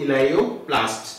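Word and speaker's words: elaioplast: इलेयोप्लास्ट, इसको आप प्रोनाउंस करेंगे ELAIO, इलेयोप्लास्ट, ठीक है।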